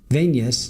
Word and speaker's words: venous: In body, it is pronounced venous, like the word in intravenous.